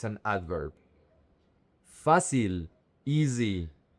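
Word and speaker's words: fácil: Grande Bueno fasil. This is one of the most difficult words for English speakers. The emphasis is on the fa and the c i l is not pronounced f is basil sil.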